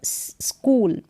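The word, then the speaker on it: school: score score यहां पर स्कूल यह जो हा है यह साइलेंट है स्कूल नेक्स्ट देखें और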